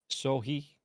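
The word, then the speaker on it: SoHy: soy uh excuse me sorry how do I pronounce that s-o-h-y so he yeah so he um I'm no real interaction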